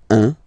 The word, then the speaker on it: un: Alright, so when you combine this u and n, you get the nasal sound un.